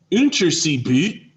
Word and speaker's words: Unterseeboot: German U-boats, or Unterseeboot, which is the German pronunciation.